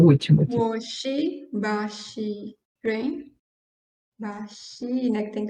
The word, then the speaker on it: 巴西: Então, o mais próximo de pronúncia seria Bashi, ok?